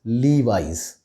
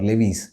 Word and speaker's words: Levi's: all over the world the correct pronunciation of this brand name is leave eyes the americans tend to pronounce their eyes as eyes like you know semi instead of semi so leave ice is the right pronunciation it is not levies it is levi's now this brand which